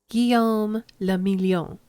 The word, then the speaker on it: Guillaume le Million: If it doesn't rhyme, you're not pronouncing it right. Guillaume le Million.